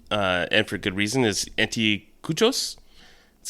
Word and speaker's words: anticuchos: game recipe website, and for good reason, is anticuchos. That's how you pronounce it, Justin, you know?